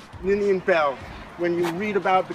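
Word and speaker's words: Beall: a l l ninan Bell when you read about the capital or about Georgetown it's always with this Bell guy although it's spelled Beal but they call him Bell and he was at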